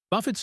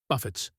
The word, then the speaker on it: buffet: We do not pronounce the t at the end because it is a French word.